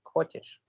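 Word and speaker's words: хочешь: That is व्हाई खचेच then it is verb is खोचेश. Used. Coaches. Okay. खोचिश, खोचिश, खचेश नहीं, खोचिश. ये खोचिश, Khachu. खोचिश. ठीक है, खोचिश प्रोनाउंसिएशन खोचिश है.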